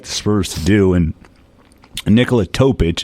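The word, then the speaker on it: Nikola Topić: Spurs to do and Nicola topic is how you say his name as a guy that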